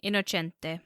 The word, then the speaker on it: Innocente: Only how do you pronounce it in Italian? Innocente.